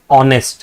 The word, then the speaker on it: honest: But see when you pronounce this word it says honest right?